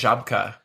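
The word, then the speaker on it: Żabka: butchering these names is is it z a b k a like yes I think it's pronounced shabka okay yeah my friend Baron's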